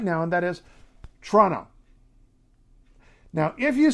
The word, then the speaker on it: Toronto: outside the city of Toronto and she sometimes says Toronto Toronto is with with the second you can say Toronto or Toronto is the official standard clear precise formal pronunciation that people mostly don't use be proud of